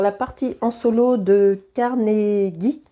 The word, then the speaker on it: Carnegie: partie en solo de Carn gui il me semble que ça se prononce Carn gui et pas Carn j mais je n'en suis pas certaine euh carnegis joue contre